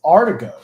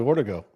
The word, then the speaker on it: Artigo: And by the way, it's Artigo, actually, believe it or not. You're really good at pronouncing names. Artigo. You want to guess that, huh? I said Riley Ortego. Or, Ortego, but it's Artigo, like A-R. It's very strange. In California, he'd be Ortego.